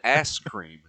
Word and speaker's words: Askren: It's Ben Askren. Ben Askren. Askew.